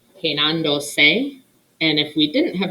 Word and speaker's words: peinándose: The reason being, most words in Spanish, the verbal stress falls on the second to last syllable. Peinando. Estamos. What's another example? Prepararse. If a word in Spanish doesn't follow that rule, we need to add a written accent mark. Bueno, peinando, because we're adding another syllable, peinándose.